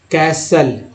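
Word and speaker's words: castle: टी के just पहले एस है तो टी साइलेंट है। कैसल, लिसन, लेकिन बहुत सारे लोग ऐसे लिस्टन पढ़ते हैं, लिस्टेन, टी एन को रखते ध्यान में, और लिस्टेन है ना।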